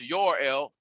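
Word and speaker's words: Jor-El: him that his father joe rail which is you know pronounced your l uh also gave him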